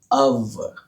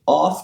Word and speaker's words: of: जानना बहुत जरूरी है, क्योंकि OF की प्रोनाउंसिएशन इस सिंबल के कारण हो जाती है अव। तो ध्यान दीजिए, ये ऑफ नहीं है, ये अव है।